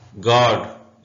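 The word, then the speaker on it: guard: गलत है यह आईलैंड पढ़ेंगे साइलेंट लेटर यू गड इसमें यू साइलेंट है गड का मतलब होता है चौकीदार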